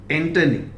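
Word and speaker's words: antonym: ठीक, आइए next, एंटोनिम, नॉट एंटोनिम। Pronunciation में ध्यान दीजिए, ये ओ इज not pronounced as O, this is स्वा यानी ए।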